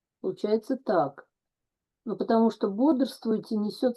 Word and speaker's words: Бодрствуйте: it's pronounced, in fact, with some sort of schwa, somewhere there in between. Бодрствуйте.